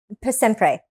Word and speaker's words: Per Sempre: can't pronounce it? Because Yes. it's Italian. No, is it Per Sempre? Per Sempre.